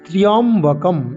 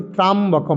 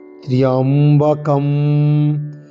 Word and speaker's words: ত্র্যম্বকম: প্রথমে আছে ওম, আমরা নাভি থেকে অউময়ের উচ্চারণ করব। ওম, ঠিক। তারপরে শব্দ কি না ত্র্যম্বকম, আমরা অনেক বলি ত্রাম্বকম, এরকম নয়। তয়রফলা জফলা, ময়ে ও ক অনুস্বার। ত্র্যম্বকম ত্র্যম্বকং যজামহে, ত্র্যম্বকম, এরকম ত্র্যম্বকম ত্র্যম্বকম ত্র্যম্বকম যজামহে।